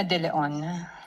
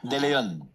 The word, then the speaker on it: De Leon: permission of Representative Chua, can you pronounce the name more distinctly, ma'am? Ano pong pangalan? De Leon. De Leon.